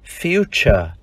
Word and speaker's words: future: Chữ T đọc là âm ch. Tương tự trong danh từ tương lai, future.